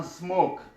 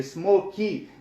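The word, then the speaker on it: smoke: مثلا که زه وایم چې مثلا سموک، مثلا زه سموک ووایم، دغه ای نه تلفظ کېږي اخر کې. دا مثلا دلته واویل اواز شته، دلته بل واویل اواز شته، نو دا نه تلفظ کېږي. سموکي داسې به نه وایي.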